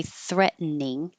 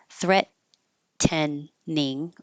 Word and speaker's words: threatening: pronounce this in here you can say threatening threat tening or without the T threatening but you can just drop that middle e in and make it two syllables excuse me threatening so